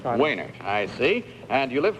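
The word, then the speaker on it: Wejnert: Henry what is it mehnert w he was w ej any RT you don't pronounce the J is that it wainak I see and you live where mr.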